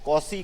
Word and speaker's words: Cauchy: कॉची का अनुक्रम, इसकी स्पेलिंग है CAUCHY, कॉची का अनुक्रम।